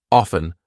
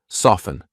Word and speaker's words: often: silent T hustle or fteen silent T often soften I'm not saying often I go to the park